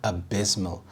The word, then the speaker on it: abysmal: was abused abysmal abysmal the stress is on the second syllable abysmal this means appalling or